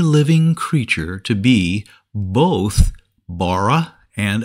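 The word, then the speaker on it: בָּרָא: in these chapters the word for created is pronounced Bara and means made from nothing something brand new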